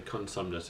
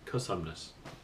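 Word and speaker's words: Cosumnes: area by the way we call it the consumnes it's the cosinus there's no end in there but we pronounced an end a lot of us do I'm not the only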